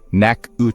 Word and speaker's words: Natchitoches: Machen Sie sich bereit für eine Zeitreise in die Vergangenheit, Leute, denn wir sind auf dem Weg nach Netosis, ausgesprochen nacsh, der ältesten Stadt Louisianas